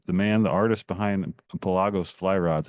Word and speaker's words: Pelagos: I mean, the the the man the artist behind Pelago's Fly Rods. Am I even pronouncing that right? Yeah, you are. I mean, you know, it's a Latin word.